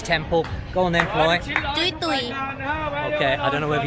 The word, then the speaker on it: Jui Tui: The last time I made a video on this temple, I pronounced it wrong. I said it was called Jui Tui Temple, but in fact it's not called Jui Tui Temple.